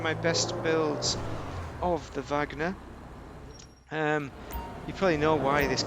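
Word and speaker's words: Wagner: Valkrie is a song by Vagner, but the spelling of Vagner is not in the German way, because a W is pronounced like a V. So in English, they've changed it the W to a V. So it sounds like it sounds in German if you're pronouncing it in English.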